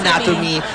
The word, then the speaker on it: anatomy: na nam o gandang word ng Anatomy accent on the last me at kahapon ko